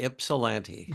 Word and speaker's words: Ypsilanti: It's Ypsilanti. spelled with a Y, but it's pronounced with an I. Ypsilanti.